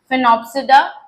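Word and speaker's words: Sphenopsida: इसे कोई सी फिनोप्सिडा नहीं बोलेगा या फिनोप्सिडा नहीं बोलेगा, ठीक है ना, एस इसका साइलेंट है, फिनोप्सिडा।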